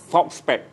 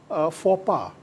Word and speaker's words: faux pas: False spec. Okey. Tapi sebenarnya itu adalah bahasa Perancis. Oh. Saya cuba Google dia, tengok sebutan betul, faux pas. Faux pas. Okey. Itu bahasa Perancis lah.